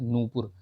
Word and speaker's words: नूपुर: अशुद्ध है ठीक है नूपुर बड़ा न उ की मात्रा जो है नू पुर ये होगा ठीक याद रखिएगा कक्षा